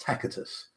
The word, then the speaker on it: Tacitus: For example, in Latin, it used to be that the letter C was hard pronounced as a k. So, for example, Tacitus would be pronounced Tacitus in the old Latin.